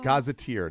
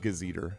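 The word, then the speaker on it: gazetteer: scramble scramble scramble yeah it is gazeteer not gazer to be clear uh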